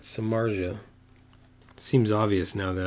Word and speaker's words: Samardzija: become really really obvious samartha man I butchered that Samardzija it seems obvious now